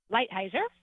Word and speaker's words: Lighthizer: Lighthizer? Lighthizer.